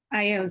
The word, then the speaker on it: Ayo's: So now, how do you pronounce is it Ayo's Adventure? Io's Adventure, yes. Ayo's, okay.